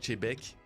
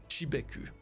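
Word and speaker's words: Xebec: encore de commentaires avec ça oui je nomme chebeek chebeek et non xbec plus j'en parle plus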